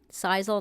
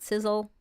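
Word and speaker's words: sisal: engineering says I like the rough one sizal not sizzle for pronunciation um we need help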